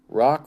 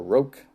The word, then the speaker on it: Rogue: I would say R-O-Q-U-E, Rock or Roke. Let's go with Roke.